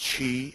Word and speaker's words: Qi: standards one is the QI or they call it it's pronounced Chi and the other is